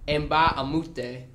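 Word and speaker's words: Mbah a Moute: His name is Luke Mbah-a-Moute, right? Beautiful on the pronunciation there.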